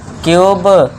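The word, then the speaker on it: cube: दूसरा देखिए जब वर्ड में यू आए और यू के बाद कोसोनेंट को छोड़कर इ आए तो यू को यू से ही पढ़ना है। यू आए इसके बाद कोसोनेंट और लास्ट में इ को आपको पता ही है इ का साउंड नहीं करना है।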